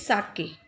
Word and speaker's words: sake: Beta, pronunciation of this word is sake.